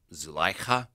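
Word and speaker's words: Zulaikha: It's pronounced Zukaila. It's actually closer to something like Zuleika.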